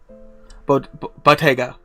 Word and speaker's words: bottega: Bottega. So like bodega, but bottega.